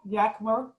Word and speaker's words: Yakima: me today well hello Yakima how do you pronounce it Rotarians I heard everyone say so hello Yakima Rotarians thank you so much for the invitation